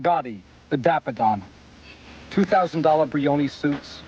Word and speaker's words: Gotti: He didn't even say it right. He didn't say Gaddy. He said John Gaddy. And I said, "Who the hell is John Gaddy? John Gotti, the daffodon.